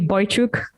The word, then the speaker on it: Boychuk: and you know what you're you're probably the first one who's pronounced my last name in English the correct way and you probably because